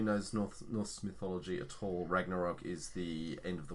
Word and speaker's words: Ragnarok: Thor Ragnarok? Is that how you say it? Yeah, this is how you say it. So, for anyone who knows Norse mythology at all, Ragnarok is the end of the world, and then